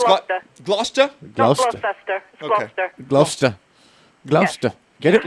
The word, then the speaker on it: Gloucester: cheese by the way oh it's got gloucester gloucester gloucester get it right i'm trying to get